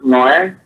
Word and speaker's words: Noe: my last name is pronounced as Noe, but spelled is N as in Nancy, O as in Oscar, E as an elephant.